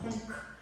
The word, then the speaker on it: Punc: Yeah, the name of the fanzine comes from the radio show I've been doing, which is also called Punc.